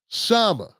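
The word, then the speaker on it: Kshama: Shama, the K is silent.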